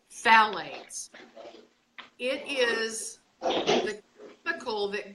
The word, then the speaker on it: phthalates: this word is HT h al ates it's pronounced phallus it is the cool that goes in plastic